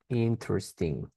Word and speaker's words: interesting: Interesting, ya, que se escribe así, pero recuerden, no se pronuncian las e intermedias ni la g al final.